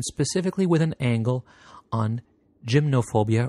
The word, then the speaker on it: gymnophobia: with an angle on gymnophobia or gymnophobia, depending on whether you want to put the Greek pronunciation to it, which is defined as the fear of nudity.